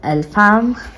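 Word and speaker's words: Elfhame: Okay, that's how you pronounce it. Okay. Map of the shifting isles of Elfham.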